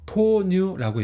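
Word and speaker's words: 豆乳: 그 다음에 이거는 전유에서 두유, 그래서 토뉴라고 읽어요.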